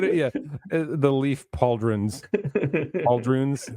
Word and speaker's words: pauldrons: show they put it yeah the leaf pauldrons puld runes how how do you even pronounce that it's pauldrons yes okay all right so that's essentially the